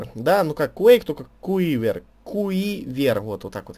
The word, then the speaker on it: Quiver: Ну, как Quake, только Quiver. Колчан. Вот и все. Да, именно так это и читается; Quiver — это рабочее название игры.